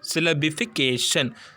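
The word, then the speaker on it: syllabification: சில் லேப் ஈ பிகேஷன் சில் லேப் ஈ பிகேஷன் சிலபிகேஷன் சோ six syllables இருக்கு சரிங்களா செல் லேப் இ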